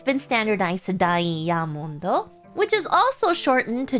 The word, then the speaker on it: ダイヤモンド: How would you pronounce diamond in Japanese? You have any idea? Yes! Diamondo.